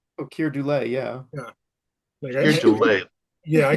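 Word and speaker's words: Keir Dullea: The guy from 2001, Kier Delea. Oh, Kier Dule.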